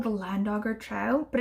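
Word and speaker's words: Llandoger: land auger trowel but it's spelled like the way that welsh names are spelled like with the llan at the beginning so it should be shan dogger but you know it's in england i don't mind do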